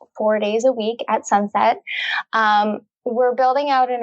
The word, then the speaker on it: Sunsette: a new app called sunset um the app is spelled s-u-n-s-e-t-t-e and sunset is a